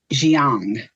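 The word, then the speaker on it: Jiang: I don't want to mispronounce it, but the speaker was Lana Xiang.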